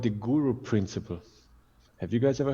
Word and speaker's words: guru: So a guru, well, the root meaning of the word, it's Sanskrit again, and it's two syllables, it's gu and ru.